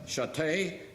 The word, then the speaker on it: Ché: you for inviting me my name is CH it's French Have You Ever Had Your Name mispronounced well that happened to me a lot somehow when I said ché people heard stay so they automatically became my name was stay I was an adventurous